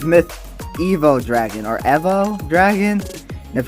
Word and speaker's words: Evo: say myth evo dragon or evo pronounced it as in like evolution or the evolved form of dragon if you get it